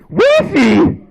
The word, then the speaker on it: Rishi: Rishi.